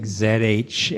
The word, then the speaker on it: Janet: Pixie's mom, Janet. Oh, and it's like Zhanet.